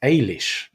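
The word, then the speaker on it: Eilís: Okay, so this first one that looks like Alice is actually pronounced Ailish.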